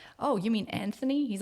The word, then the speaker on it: Anthony: I know, because you have a silent H in your name and it should be said Anthony.